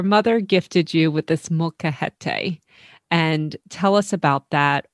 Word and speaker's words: molcajete: But even in your book, your story starts with the gifting of a, is it called a molcajete? You're so close. It's a molcajete, and it's molcajete.